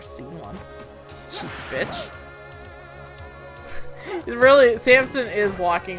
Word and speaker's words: Samson: Anyways, I know it's pronounced Samson, not Sampson, but whatever.